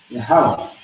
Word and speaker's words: Yahweh: You got the ya, which is by itself, Y-A. The ha is by itself, H-A. Then we have the wa and the ha together, which is going to give us W-A-H, no A. The reason being is because the wa and the ha is connected together. Okay?